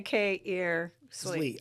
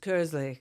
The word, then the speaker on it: Kearsley: Well, I always say K-ear-Slee. That was good. Yeah. I know. You did a good job doing that. But it depends on where you are in Britain because it's also pronounced Kersley. Kersley. Kersley, yes. That's the right pronunciation.